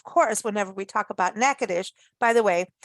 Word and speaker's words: Natchitoches: whenever we talk about nakadish by the way it is spelled n-a-t-c-h-i-t-o-c-h-e-s but pronounced nakadish every time we talk